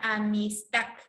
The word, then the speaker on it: amistad: por ejemplo ya acá tenemos la palabra amistad ya mixta que la sílaba tónica viene a ser tac ya amistad entonces la mayor por esa voz está intacta las demás sílabas ya